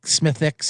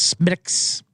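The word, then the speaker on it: Smithwick's: it's go way B it's not SMI smithx it's Smiths oh did they get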